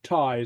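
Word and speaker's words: taigh: a or or you it's pronounced very much like the English Dona which bad or Tai I which means house and pronounce like a like Tai so you know so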